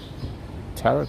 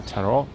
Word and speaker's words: tarot: a comfortable chair and a tarot card I guess or tarot depending on how you pronounce it these are very old